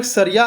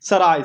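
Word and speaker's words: सराय: उन्होंने सारिया नामक एक घर बनवाया, जो एक प्रकार का घर था जहाँ यात्री विश्राम कर सकते थे। इसका नाम सारिया था, माफ कीजिए, सारिया नहीं, बल्कि साराइस, साराइस, उच्चारण के लिए मुझे बहुत खेद है।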